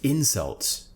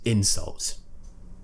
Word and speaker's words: insult: me with his favorite insult so we're stressing different syllables insult insults nothing changes in this word the only thing that changes is the stress on which syllable insult noun insult verb similarly increase and increase